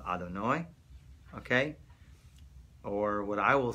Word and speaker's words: Adonai: How we pronounce it is called Adonai, okay?